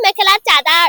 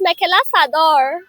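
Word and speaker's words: mekhela sador: they pronounce mela chada don't say mela chada it's mela sador and then we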